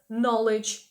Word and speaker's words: knowledge: Зверніть увагу, що буква сполучення KN читається як N. Ми не читаємо know, ми читаємо know. Також ви можете це букву сполучення зустріти в таких словах, як knife, ніж, або knowledge, знання. To go, бо іти або